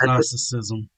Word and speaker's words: Gnosticism: with the g yeah it's just pronounced narcissism okay the g is not pronounced it's silent g yeah but then okay